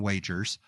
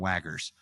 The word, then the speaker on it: Wagers: And so for me, number 8 is Wits and Wagers, or as Courtney called it, Wits and Waggers. And so Wits and Wagers is a trivia game.